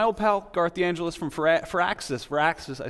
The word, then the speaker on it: Firaxis: Joining me is my old pal, Garth DeAngelis from Firaxis. I said that wrong. You said it right. Firaxis is right.